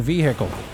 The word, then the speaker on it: vehicle: And then there's the other guy that says, you need to stop pronouncing the H in vehicle.